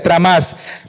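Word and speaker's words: τρόμος: Por otra parte, el temblor que se menciona allí, de la palabra griega tromos, que se pronuncia tramás, esto implica una actitud de humildad y seriedad ante la presencia de Dios.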